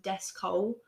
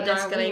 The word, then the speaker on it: Descole: Okay, let's talk about Descalé first then. What the hell? I know someone said that they thought his name was Descole because it's spelt like Descole.